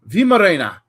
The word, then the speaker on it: Weimaraner: So the WEI is VI. That's how you'd pronounce it. So Weimaraner. Vimarena. Weimaraner. Maybe that'll help.